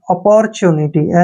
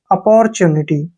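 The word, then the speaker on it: opportunity: रूप में करते हैं जब भी टी के बाद यू आएगा तो टी का उच्चारण च हो जाता है अपॉर्चुनिटी अपॉर्चुनिटी होता है अवसर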